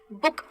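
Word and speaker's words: book: अब बुक में स्पेलिंग में डबल ओ है, लेकिन बोलते इसको छोटे ऊ के साथ है, बुक। तो ये कंसेप्शन माइंड में मत रखना कि अगर स्पेलिंग में डबल ओ है तो मुझे लंबा वाला यानी कि बड़ा ऊ लगाना है। इसका प्रोनाउंसिएशन जैसे बुक और लुक है, उसका छोटे ऊ के साथ होता है।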